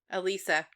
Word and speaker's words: Elisa: Also, we've been pronouncing Alyssa's name wrong. I was afraid of that. Yep. It's Elisa? Elisa.